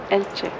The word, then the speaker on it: Elche: Après avoir quitté El Campello après quelques jours, nous voici à Elche. C'est juste ? C'est ça. Ça se prononce comme ça ? Oui. Elche.